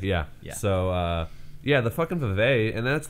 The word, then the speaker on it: Vive: is it Vive or Reeve? Fact check? Vive. Yeah. So, yeah, the fucking Vive, and that's like, what, $800? It's actually pronounced 6-5-E.